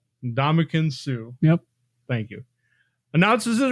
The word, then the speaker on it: Ndamukong Suh: Ndamukong Suh. Ndamukong Suh.